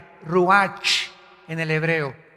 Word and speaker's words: ruach: El ruach, que se escribe R-U-A-C-H, ruach en el hebreo, y se pronuncia igual, ruach.